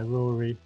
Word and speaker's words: Rory: i'd like to welcome roy from the trestle trust thanks for joining us sorry i've got your name wrong haven't i rory for you um perhaps